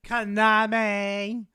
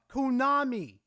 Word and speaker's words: Konami: companies like, you know, Konami. What the Kunami. Just pronounce it correctly for once. Kunami.